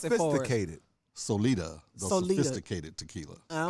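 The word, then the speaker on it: Sólida: and we still say what I'm still saying Sol day it's come on pronounce itated Solita the sophisticated tequila all right I like that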